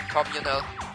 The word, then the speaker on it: communal: Also, the second syllable is stressed in communal.